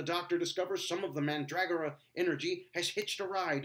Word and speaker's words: Mandragora: at the Masque of Mandragora. No, not Mandragora, Mandragora. Mandragora. You're putting the emphasis on the wrong syllable.